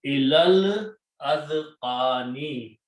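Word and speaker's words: إِلَى الْأَذْقَانِ: But when you read these together, then you can combine the lam with this lam and do not pronounce the alif in between, okay, and then so it will become ilal azqani, up to the chins.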